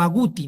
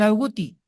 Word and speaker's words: agouti: La grelina estimula a otro péptido, que se conoce como el péptido o proteína relacionada al agouti, o agouti, ¿no? La forma de pronunciarlo. ¿Qué hace este péptido relacionado al agouti?